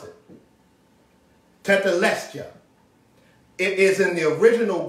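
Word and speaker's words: tetelestai: original greek that he said it is pronounced tetelesta t-e-t t-e-t-e-l-e-s-t-a-i scholars let us know how to pronounce it tethelestia it is in the original greek that's what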